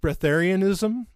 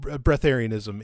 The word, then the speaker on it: Breatharianism: And so what this person's asking about is, I think it's pronounced Breatharianism. Okay. Not as in like getting a breath of fresh air, but it's called Breatharianism.